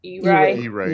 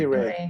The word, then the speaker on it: EREY: But so you're saying that if your club has 20 and only 10 people do the EREY, or how are you pronouncing it? EREY? E-Ray. E-Ray. Yeah.